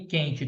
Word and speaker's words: quente: o queijo dígrafo querida Quitanda e quente todos são dígrafo que eu não CONSEG consegui escutar o som do U tá bom guitarra guerra